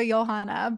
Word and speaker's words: Johanna: joh Instagram it's very nice thank you it's pronounced johana but not everybody knows how to spell that